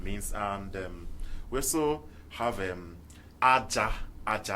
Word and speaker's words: Aja: It depends on how it's pronounced. If you say Aja, Aja means sand, while Aja would mean sacrifice.